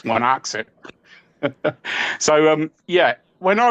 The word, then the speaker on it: Wanocksett: Um, how did I find myself at, uh, Wanaxit, or or Wanaxet, as I called it once, and people said, "No, no, no, you don't pronounce it like that. It's Wanaxit."